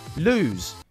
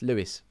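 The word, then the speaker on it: Lewes: Lose. It's not lose, it's Lewis.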